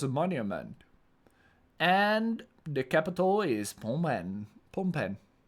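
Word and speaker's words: Phnom Penh: And the capital is pom pen. Pompen. I always try to pronounce it like fonen or something, but it's just pompen.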